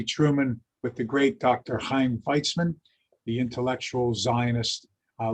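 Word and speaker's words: Chaim: and truman responded by not being able to pronounce heim c-h-a-i-m truman called him cham and they laughed and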